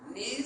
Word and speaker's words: knees: Knees s'écrit avec K-N-I-I-S. On ne dit pas knees, mais on dit knees.